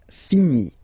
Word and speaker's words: finis: Je finis. Remember, final S is not pronounced.